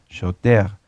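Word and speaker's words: שוטר: Y shoter se escribe shoter con R, pero recuerden que la R en el hebreo se pronuncia como una G, shoter.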